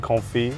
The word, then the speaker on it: confit: Your insistence on pronouncing the T in confit is quite funny.